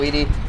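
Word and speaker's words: ED-E: Honestly, uh I'm just more used to saying Edie because of Mass Effect, but Eddie is also a good pronunciation, you know, like from Ed, Ed, and Eddie.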